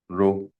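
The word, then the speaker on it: rho: R = R LA इसमें जो रो वाला पार्ट है इसको हम फिजिक्स की जुबान में कहते हैं। प्रोनाउंस तो आपको पता है इसको क्या करना हमने? रो। क्या प्रोनाउंस करना है? आर एच ओ रो।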